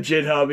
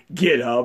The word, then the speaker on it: GitHub: And yes, I pronounce it JitHub, even though it's pronounced GitHub.